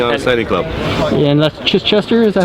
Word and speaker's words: Chichester: And that's Chichester, is that how you pronounce it? Chichester Harbour.